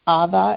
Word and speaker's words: Ava: And we have the name Ava, except we pronounce it Ava in Iranian.